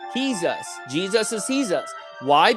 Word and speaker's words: Jesus: is me and you Jesus the J is pronounced H he's us Jesus is he's us